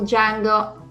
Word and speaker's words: Django: guy, and it's when Django says, I think for the first time, his famous phrase of Django, the D is silent.